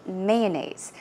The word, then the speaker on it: mayonnaise: of the word here mayonnaise mayonnaise or mayonnaise i say mayonnaise so i put stress on the first syllable you can choose either